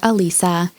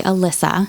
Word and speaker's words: Alisa: the summer of 1973 we are going to call her Alisa there are other pronunciations where they say Alysa however today we know that she goes by Lisa and her name is is it looks like a Lisa Lisa so I'm going to